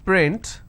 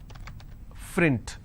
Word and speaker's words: print: let's begin for example if i have the word which is print lot of people pronounce this as frint so that is where the mistake happens okay there's some people who